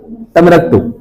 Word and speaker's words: तमरकट्टू: अच्छा, इसको तमरकट्टू ऐसे बोल सकते हैं, तमरकट्टू में बोल रहा हूं, गैप ले रहा हूं, बाकी सबसे सही इसका प्रोनाउंसिएशन होगा तमरकट्टू।